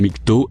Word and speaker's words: MGTOW: pour mengo interway généralement le mouvement mis k o a prononcé nikto recoupent tous les hommes